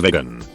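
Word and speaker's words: Vigan: In my country, there's a province called Vegan, pronounced same as vegan.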